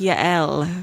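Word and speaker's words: Yael: Y A E L. Oh, Y. Like Yel.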